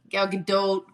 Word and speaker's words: Gal Gadot: Gal Gadot.